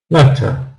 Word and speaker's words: letter: For example, letter, we would write like this: le as the stressed syllable, and t, letter. So she's written er. We don't need to see anything else, just t, because when we say t, we're making a schwa sound.